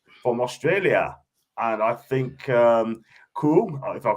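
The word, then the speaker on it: Kuol: That's how you pronounce it, John. Kwal. Yeah. Kwal.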